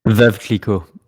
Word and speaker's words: Veuve Clicquot: I'll let Andrew pronounce that in French. Since now that I know he majored in French in college. Veuve Clicquot.